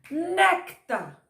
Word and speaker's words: néctar: palavra terminada em r néctar néctar olha aposta do né então é uma palavra paroxítona oi neta oi e